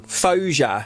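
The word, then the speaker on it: Faouzia: Fosia. Fos Fosia. You've presscripted this. Let's just Google how to pronounce it.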